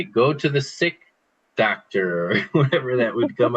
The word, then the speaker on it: doctor: So it's not doctor, it's doctor.